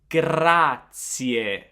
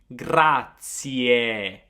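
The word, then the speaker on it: grazie: It's gratier. I want to hear that final e gratier.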